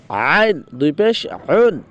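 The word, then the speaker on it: ع: এই যে আইনটা, আইনের উচ্চারণটা মানে এরকম হবে, মানে চাপিয়ে গলার মাঝখানে, হলকের মাঝখানে চাপ দিয়ে তারপর বলতে হয় আইন।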